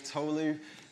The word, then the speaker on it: Tolu: My name's Tolu. It's like tofu with an L. That's the easiest way to pronounce it.